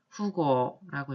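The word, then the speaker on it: 富豪: 그 다음에 사적인 관계, 사사로운 일 할 때 이렇게 표현을 할 때 일본어로는 와타쿠시고도라고 읽습니다. 그 다음에 부호, 큰 부자죠. 부호나 부저를 부호나 부자 일컫는 말 일본어로는 후고라고 읽고요.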